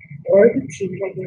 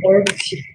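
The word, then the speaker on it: herb tea: 허브티는 얼브티라고 해요. 얼브티.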